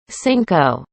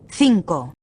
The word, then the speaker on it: cinco: In English, you might read this cinco, cinco, but native Spanish says cinco, cinco. Can you hear the differences?